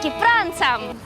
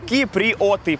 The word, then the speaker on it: киприоты: И мы прилетели в гости к кипранцам. Кому прилетели? Кипранцам. Ты что, не Мишель. знал? Я не знал, киприоты, правильно говорить.